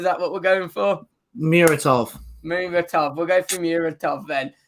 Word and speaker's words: Muratov: But you look at it, we believe it's pronounced Murator. Is that what we're going for? Muratov.